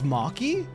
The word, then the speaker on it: Machi: Machi rhymes with stocky. So it's Maki?